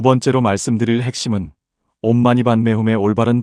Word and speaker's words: 옴마니반메훔: 옴은 우주의 근원적 소리이며 부처님의 몸을 상징합니다. 입을 둥글게 하여 깊은 곳에서부터 울려나오도록 발음합니다. 마니는 보배를 뜻하며 부처님의 말씀을 상징합니다. 마와 니를 분명하게 구분하여 발음합니다. 반매는 연꽃을 의미하며 부처님의 마음을 상징합니다. 반과 매를 부드럽게 연결하여 발음합니다. 훔은 마음의 집중을 의미하며 이 모든 것의 성취를 상징합니다. 힘있게 마무리하듯 발음합니다.